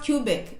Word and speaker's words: Quebec: uh oh okay someone say quebec okay it's pronounced cubic and not quebec okay wow is that french i knew there